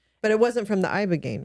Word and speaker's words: Ibogaine: So the Ibogaine experience, am I saying it right? Yeah. Ibogaine, that was recently.